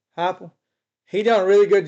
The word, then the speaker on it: Heupel: Heupel. Heupel.